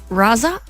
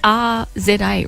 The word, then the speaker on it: RZA: So if it's pronounced like SZA, the recording artist, which is S-Z-A, so maybe it's RZA?